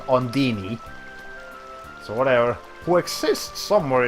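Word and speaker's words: Undine: That's how you pronounce it in this game. It should be Ondine or Ondine, but in this game they pronounce it Ondini.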